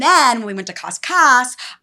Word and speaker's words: Cascais: And then when we went to Cascais, I just pronounce that totally differently. Cascais.